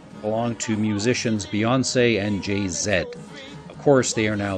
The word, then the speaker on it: Jay-Z: to musicians Beyonce and JayZ of course they are now the owners of Spotify so Beyonce formerly of Destiny's Child and jayzed of um sorry I'm being told it is JayZ Beyonce and JayZ but